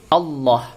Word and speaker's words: Allah: yang kedua adalah tarqiqah tafkhim dibaca tafkhim apabila lafal Allah yang ini lafal Allah teman-teman didahului oleh harokat fathah atau dhomah membacanya harus tebal Allah masih berupa masih berbunyi Allah Ya Rasulullah tapi kalau ditaruh adalah Apabila ada lafal Allah tidak oleh harokat kasrah membacanya harus tipis lafaz Allahnya ini menjadi